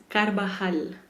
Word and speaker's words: Carvajal: It's Carvajal. So So y'all, instead of y'all the heard Carvajal, yeah, think it's like a H.